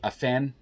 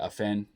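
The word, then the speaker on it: Afnan: His name is spelled A-F-N-A-N. I say Afen. If I'm saying it wrong, please forgive me, but that's the way I say it, Afen.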